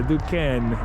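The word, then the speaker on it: Duquesne: go do the DU duen incline the incline the duen incline because that's super cool yeah we had to look up how to say it because it's a little confusing du it's French 1877 this has been here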